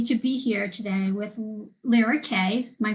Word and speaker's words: Lira Kay: am really happy to be here today with Lara K am I pronouncing that correctly yep okay so my intention